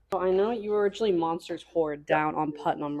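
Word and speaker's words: Monsters Hoard: Oh, the name Monsters Horde and it's spelled weird. Everybody thought hoorde. H O A R D meaning you have a lot of stuff.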